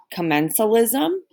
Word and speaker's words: commensalism: on there's three types it's pronounced commensalism commensalism mutualism and parasitism okay we're gonna start with the one it's called come n so lism come n so lism